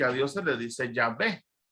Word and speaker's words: Yahvé: En la Biblia cristiana católica encontramos que a Dios se le dice Yahvé. Para hacerlo un poco más exacto sería Yahvé, que es la pronunciación en hebreo.